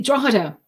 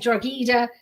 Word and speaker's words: Drogheda: it's spelled I listened so many people are saying georgita I was gonna say I I want to say like drog Hita yeah you know um